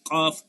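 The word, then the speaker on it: ق: যেরকম আওয়াজ হয় এরকম কফ, এই যে একটা শব্দ হইতেছে, তাইলে এটা হচ্ছে জিহ্বার গোড়া তার বরাবর তালুর সঙ্গে লাগে কফ, কফ।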